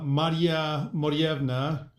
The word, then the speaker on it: Maria Morevna: to talk about is I'm sure I'm going to mispronounce say uh Maria morevna did I do okay that's that's exactly right oh thank you very